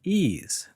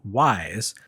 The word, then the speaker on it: Ys: Despite being spelled YS, East is pronounced more like E than Wise because it takes its name from a legendary sunken city off the coast of France.